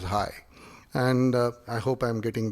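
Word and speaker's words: hej: In Denmark, they say hi to say hello, and it's spelled as H-E-J. It's pronounced as hi, and I hope I'm getting that right.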